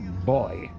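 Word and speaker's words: buoy: that an old boy you Americans call them but it's pronounced boy you should always like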